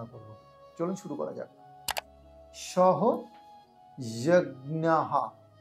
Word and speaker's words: সহযজ্ঞাঃ: চলুন শুরু করা যাক সহ যজ্ঞাহা এখানে বিসর্গ থাকলে হ এর উচ্চারণ হবে আর সেই জন্য এখানে সহযহা